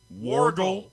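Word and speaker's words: Wörgl: More importantly, it's about 4 miles south of the town of Wurgl. Wargle. Wurgl. It is Wargle.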